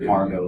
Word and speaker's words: Margot: shadow agnes morehead played margot lane inspired by the actress margot stevenson interesting enough if you look at the radio scripts margot spelled m-a-r-g-o-t the t is silent in the pulse it's